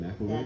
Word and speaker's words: McElroy: That's the way you pronounce it, right? McElroy?